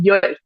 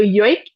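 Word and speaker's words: joik: have to talk about is yo so yo is spelled j o i k y um and when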